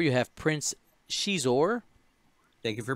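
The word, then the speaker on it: Xizor: Then at Initiative 4 you have Prince Shizor. Thank you for pronouncing his name correctly.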